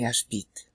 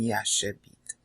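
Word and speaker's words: ישבית: So they would be used to saying Yashbit rather than Yashabit.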